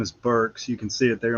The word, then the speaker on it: Burks: I got in this uh one time teaching first second day and u talking about names and pronunciations and stuff. And so my last name is Burks.